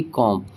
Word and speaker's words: comb: जो बी आया है वो किसके जस्ट बाद है, एम के। तो एम के अगर जस्ट बाद बी आ रहा है तो वहाँ पे बी को नहीं पढ़ेंगे, सिर्फ एम तक ही हम प्रोनाउंस करेंगे, जैसे कि कॉम।